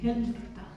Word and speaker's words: Helfta: En los 1200 en Alemania, y existe todavía este monasterio, en un lugar que se llama Helfta, Helfta, y se pronuncia así, Helfta.